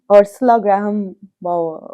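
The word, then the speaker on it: Ursula Graham Bower: Actually, my favorite chapter though was the one on Ursula Graham Bauer. Okay, and am I pronouncing her name Yes, correctly?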